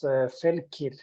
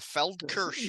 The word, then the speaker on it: Feldkirch: So the town was Felkir. Oh, Feldkirch or whatever.